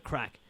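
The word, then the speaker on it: craic: Or you can use it to describe somebody, but we don't spell it C-R-A-C-K. Crack is in Ireland. C-R-A-C-K. C-R-A-C-K is not how crack. C-R-A-C-Gray? It's not how we spell Irish crack. Irish crack is spelled C-R-A-I-C.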